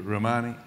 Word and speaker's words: Rouhani: And it took a brave act of courage to talk to Rouhani, is it pronounced? On the telephone. Rouhani, yes.